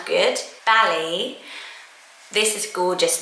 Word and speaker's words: Bali: the grain as well but it is Bali rhyming with a valley um but it's a